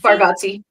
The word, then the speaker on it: Bargatze: Bargatze. Yeah, Bargatze.